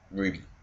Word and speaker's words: RWBY: How you actually pronounce RWBY for what they want to is Ruby, which you can somewhat see.